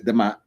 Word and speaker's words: D'mt: The kingdom of D'mt in the Sabaean influence by the 8th century BCE, a kingdom known as D'mt, pronounced as Demat, rose in the northern Ethiopia.